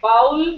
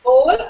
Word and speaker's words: bowl: Just because there is o l we tend to call it bow like owl but it is bowl oven is right oven